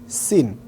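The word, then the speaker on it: س: ছোটবেলায় অনেকেই পড়েছেন তিন মাথা, এটা হচ্ছে সিন। অর্থাৎ সিনটা উচ্চারণ হবে সি, সি, সিন, ঠিক এভাবে।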